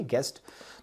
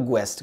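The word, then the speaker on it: guest: आप नहीं पढ़ते हो ठीक वैसे एक और वर्ड है यूएसटी गेस्ट तो आप नहीं बोलते हो गस्ट करके आप क्या बोलते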